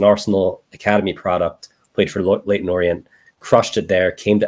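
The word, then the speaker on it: Leyton Orient: gonna do that one Leighton Orient late in Orient that's correct that's a good pronunciation there yeah that was good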